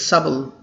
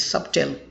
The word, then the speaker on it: subtle: right but in american english they say it's subtle it's okay but you don't say it's subtle but you don't say it's subtil his whole attitude hadn't gone as subtle change